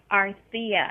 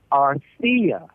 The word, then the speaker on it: Arthia: Arthia, actually. Arthia. Arthia, like Arthur.